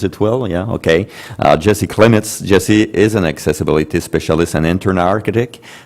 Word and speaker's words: Klimitz: Jesse Klimitz, do I pronounce it well? Yeah, okay. Jesse Klimitz.